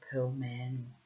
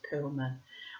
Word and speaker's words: Perlman: Ambiguity by Elliot Perlman, or Perlman. You probably pronounce it Perlman. I have a habit to, Germanify things because my mother was, after all, German. So there's a reason why things that sound like they should be German get given German pronunciations.